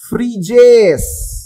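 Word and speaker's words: Phryges: इन्होंने चुना है फ्रीजेस इसका उच्चारण है फ्रीजेस मैं एक्चुअली में प्लूरल में बोल रहा हूं आप चाहो तो फ्रीज भी बोल सकते हो okay fridge फ्रीजेस okay okay English में इसका उच्चारण वही है फ्रिस ओके अब आप बोलेंगे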